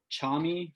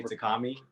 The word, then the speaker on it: Tchami: now correct me if i'm wrong uh by chami featuring ghana correct yeah yeah actually you actually said it right a lot of people say takami i i tend to say it too um